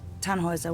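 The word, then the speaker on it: Tannhäuser: We'd pronounce it Tannhauser with an umlaut.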